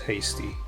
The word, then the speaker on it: Hasty: the king Rocky Lee's Hasty or is it haste because it's pronounced haste but it's spelled Hasty it's an industrial country